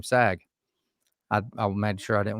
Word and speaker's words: Saag: so dr sag and that is the correct pronunciation of your last name sag i made sure i